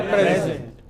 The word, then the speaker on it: present: The class gave the teacher a present. And the next. The class presented a painting to the teacher. You see, as noun, as verb.